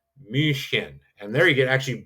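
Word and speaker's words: München: So we'll be flying into Munich and in German that's pronounced mushin and there you get actually both you get two things there. You get the umlout u and you get that ch. So min would be how Germans would pronounce Munich and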